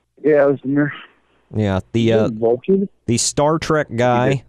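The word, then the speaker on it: Özdemir: Ozdemir? Yeah, Ozdemir.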